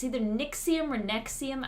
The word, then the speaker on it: NXIVM: it's either Nixie amor nexium I think it's supposed to be pronounced next scene but them so I'm gonna sing nexium it's spell and XIV M all capitals I